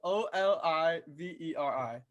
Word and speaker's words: Oliveri: say your last name uh olivieri but olivieri o l i v e r i oliveri and this is the queue at umd